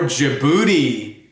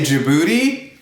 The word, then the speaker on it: Djibouti: one's a lot of fun D is for Djibouti can you say Djibouti the boat race begins when the handsome judge